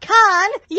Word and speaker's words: Kanye: Hi, everybody, it's me, Kanye! And that's pronounced Con-yay!